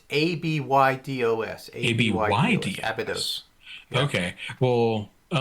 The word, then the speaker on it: Abydos: I'm only assuming that it's spelled ABBADOS, or maybe it's one B and two Ds. It's ABYDOS.